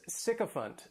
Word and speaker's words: sycophant: The next noun is sycophant, and this noun has 3 syllables and the stress is on that first syllable.